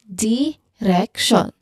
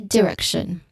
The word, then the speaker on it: direction: So don't, you know, overemphasize the letter E sound because you might not clearly pronounce a short E sound in the second syllable like direction. That you shouldn't, you know, overly emphasize with that one.